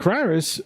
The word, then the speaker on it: Cyrus: Cyrus rhymes with virus.